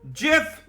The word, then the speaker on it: Jif: The modern day, we have Nutella, but we also have Jif peanut butter and chocolate. Did you just say GIF? Jif. I heard GIF. Well, that's not how it's said.